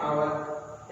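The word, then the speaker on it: hour: यहाँ पे देखिए हावत नहीं बोलते, क्या बोलते हैं, आवत। यहाँ पे एच साइलेंट है, यहाँ पे भी एच साइलेंट है।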